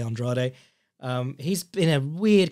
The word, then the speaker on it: Andrade: for me was Demetrius Andrade or well it's spelt Andra like all the you know all the Brazilian Fighters we're used to but he's American so I believe they say Andrade um he's been a